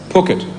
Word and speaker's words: Phuket: It's pronounced Phuket.